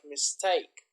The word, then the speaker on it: mistake: so the intonation is the stress is on the second syllable like mistake democracy photograph photography so